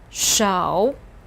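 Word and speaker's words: 手: like a mouth as we just saw so pronounce with me show this means hand can you see the fingers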